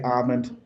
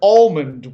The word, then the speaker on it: almond: right way to say almond and the guy jumps out of his car and he's like almond with an L and I'm like screw that guy and screw Snickers it's almond okay that's the right way